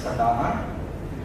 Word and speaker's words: Sa-Dhan: I would like SADANA. Now in Hindi we pronounce it as Sa-Dhan.